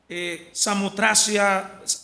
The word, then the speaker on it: Samotracia: Samotracia, así es que se pronuncia, ¿no?